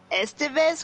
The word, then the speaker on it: Estevez: Loaded Weapon, with Emilio I can never pronounce his last name. Estevez, who is also related to Martin and Charlie Sheen.